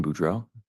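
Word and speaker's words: Boudreaux: morning morning can you state your name and spell it for the record my name is budro budro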